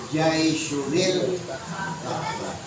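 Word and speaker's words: جيش الكعبة: Nabi bilang, yaghzu jaisyun al-Ka'bah. Bacanya jaisyunil Ka'bah.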